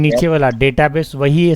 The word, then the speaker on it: database: जैसे नॉर्मल बिहार वगैरह में लोग डाटा बेस बोलते हैं, लेकिन बाहर में जाओगे तो पता है क्या बोलते हैं इसको? डेटाबेस। बोलो तो जरा। डेटाबेस। Yes, this is right pronunciation. डाटाबेस बोलेंगे बिहार वाले।